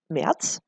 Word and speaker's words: März: So March in German is called März. That's how you would pronounce it.